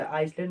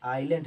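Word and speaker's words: island: इसे आइसलैंड मत पढ़ दीजिएगा, बहुत बच्चे होते हैं जो इसे क्या पढ़ देते हैं, आइसलैंड पढ़ देते हैं या ईजलैंड पढ़ देते हैं। ये क्या है? आइलैंड है, यहाँ एस साइलेंट है।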